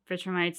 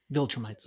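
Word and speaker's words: Viltrumites: Maybe he made a deal with the vitram vitrammites that like viltrrammites.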